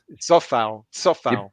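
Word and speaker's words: Souček: Still, can I ask, is it Safal or is it Kufal? I was told by a Czech fan. It's Sofal. Yeah, but is that in Czech language?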